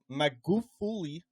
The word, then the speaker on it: Magufuli: in 2021 of the former president, President John Magufuli, that's how you pronounce it, after he passed away suddenly and unexpectedly.